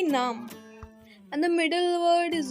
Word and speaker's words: नाम: And the second word is naam. There are no much difference in between both, but a little difference is that you say in English name and we say in Hindi naam.